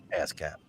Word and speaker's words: ASCAP: I really thought you said ass cap, like ass cap. I did, but it's spelled with one less S than you think. Really But that's what it is. Ass cap.